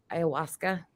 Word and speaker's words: ayahuasca: How do you pronounce that? Do you know? Ayahuasca.